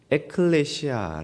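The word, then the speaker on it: ἐκκλησία: 두 곳의 만 등장을 하죠 교회 헬라어로 는 에클레시아 라고 발음하는 이 단어는 부름을 받은 자 되요 이라는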